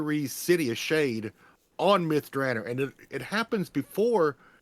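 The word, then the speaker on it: Myth Drannor: of mythr or through or myth drer sorry it's still hard to say that even though I know that's the way Ed greenw pronounce it it doesn't sound Elvish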